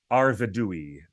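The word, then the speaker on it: Arvedui: is the winner and the answer is arvadui that's how you pronounce it one two three number three arvadui number three what's your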